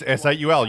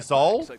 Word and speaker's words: S8UL: It's S8UL. You just say the four words, numbers. Just call it S8UL. They've been saying Soul. They shouldn't be, because Soul, S8UL is the combined esports teams of Soul and 8-Bit.